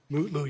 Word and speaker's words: Mutlu: Is it Metlu or Mutlu, or how do you pronounce his last name? Mutlu, Your Honor.